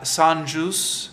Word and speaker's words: Saint-Just: revolutionary zeal to saint-just that's not how you pronounce it is it Sun juice is a French pronunciation maybe it's one of